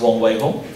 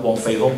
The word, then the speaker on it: Wong Wei Hong: Okay, before that, my name is Wong Wei Hong. Do not mispronounce my name to become Wong Fei Hong, please.